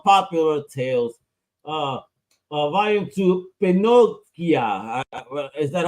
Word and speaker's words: Pinochia: on Kickstarter on poopular Tales uh volume to pinia is that how it's pronounced yeah yeah Pinocchio about just put an